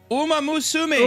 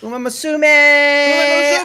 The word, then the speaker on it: Uma Musume: How do you pronounce this? Uma Musume. Uma. Yeah, there you go. Uma Musume.